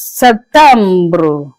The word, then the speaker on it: septembre: In French, you pronounce it as septembre.